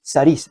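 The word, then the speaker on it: סריס: Saris se pronuncia.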